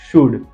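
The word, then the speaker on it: should: अब ध्यान से देखिए, कुड, वुड एंड शुड। COULD, यू के पीछे एल है, हमने पुल्ड नहीं बोलते इसको, जिसको पढ़ना नहीं आता पुल्ड, वुल्ड, शुल्ड पड़ेगा। जैसे एल साइलेंट है यहाँ पे, कुड, शुड एंड वुड।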